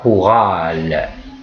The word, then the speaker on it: chorale: La chorale, et non pas la chorale. Donc le CH se prononce que.